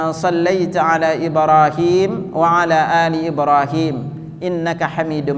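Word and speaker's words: إبراهيم: perhatikan di kalimat ibrahimnya kalau Indonesia tulisannya Ibrahim tapi kalau Arabnya Ibrahim himnya itu panjang dua harakat ini kita enggak bacanya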